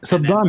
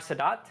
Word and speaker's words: Sadat: Saddam, he is in Egypt. Saddam in Egypt. What? You said Saddam in Egypt. Am I pronouncing Sadat? Anwar Sadat?